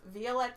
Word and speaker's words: Violette: And this is out of Violette Yarns. Violette Yarn Company, who is or Violet Yarn Company, however you want to pronounce it. It's spelled in French.